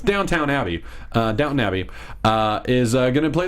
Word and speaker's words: Downton Abbey: no no no no it's downtown abbey uh Downton Abbey uh is uh gonna play the lead he's